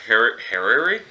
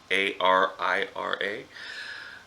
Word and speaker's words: harira: It starts off with hariri. My pronunciations of these are probably going to be horrible. So, hara soup, it's Harira.